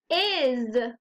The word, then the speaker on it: is: as I heard Z Now that we know sometimes times the S Says Z the word is isn't so tricky because we know that if is doesn't sound right let's try the other way is remember even though it's an S sometimes it says what sound Z very good let's look